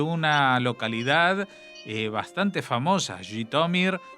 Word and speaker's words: Zhitomir: localidad eh bastante famosa jomir o gitomer no Cómo se pronuncia gitomer sí yomer decían eh los judíos oriundos digamos en idish Aunque probablemente en el lengua original del país es jomir pero los judíos se referían